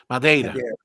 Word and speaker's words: Madeira: I'll let you pronounce the word, Gustavo, because I'll mess it up. Sure. Is it Madeira. Madeira? Madeira.